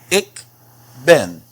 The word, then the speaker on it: ik ben: Now, this is pronounced ik ben. Ik ben. It's pronounced pretty much the same way it looks.